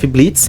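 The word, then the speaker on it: Blitzø: In Helluva Boss we have the group of professional assassins “I.M.P” This group is formed by the boss “Blitz'o” (the “o” is silent) The couple “Millie” and “Moxie” And the furry “Loona” Yes...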